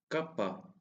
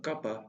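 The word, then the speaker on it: κάππα: Kappa. Kappa. The sound of kapa is the same as the C sound in make.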